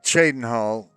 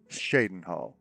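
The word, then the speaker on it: Cheydinhal: See, in this world, Chadenhole is somehow sometimes pronounced Shadenhole by the people, the locals. They can't decide whether it's called Chadenhal or Shadenhal. Now, it starts with a ch.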